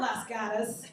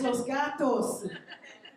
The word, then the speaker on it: Los Gatos: It's not Las Gatas, it's Los Gatos.